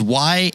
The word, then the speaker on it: Jarek: Now, Jarek in my head, the way I wrote it, so I said it right, is Yarek, but it's not spelled that way. Very close. The first letter is actually J. But it's Jarek, even though it's not Jarek. It's a silent J.